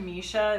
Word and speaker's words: Misha: over it so but when I would always say Misha rhymes with fish' associate my name and now I say it rhymes with Tricia I didn't know about